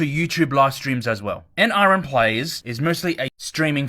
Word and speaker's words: NRN: Now then, when it comes to NRN players, NRN, that's how you should pronounce it.